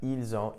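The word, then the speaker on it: ils ont: You'll also notice that when I pronounced it, the s in which is normally silent was actually pronounced and I pronounced it like a zed.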